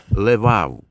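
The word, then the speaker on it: לב: в цій молитві- серце яке на івриті іноді вимовляють як левав або частіше в короткій формі Лев так от у різних культурах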